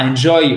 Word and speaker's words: enjoy: Pourquoi? Parce que l'accent tonique est ici. Et là, vous avez votre I court pour commencer. Alors, attendez. Hop, l'accent tonique, vous l'avez ici. Donc, cette syllabe-là est accentuée. Et là, c'est enjoy. OK? Enjoy. Le I court, en fait, vous le prononcez presque comme un E accent aigu.